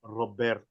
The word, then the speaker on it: Roberto: Never roll your R like that again. It's Roberto.